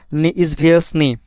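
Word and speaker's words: неизвестный: ওয়ার্ডটি হল নিজভিসনি। নিজ ভিসনিভিসনি মানে অজানা। নিজভিসনি মানে অজানা। এখানে দেখেননি ইজ ভিস এইযে তে আছে তে এর উচ্চারণটা কিন্তু হচ্ছে না।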